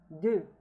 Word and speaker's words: deux: Deux. Deux. Now the X here is not pronounced.